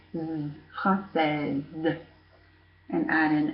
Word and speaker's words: française: So pronounce the S there, française. And actually it sounds like française, sounds like a Z, because you have the S. So the S here is between two vowels.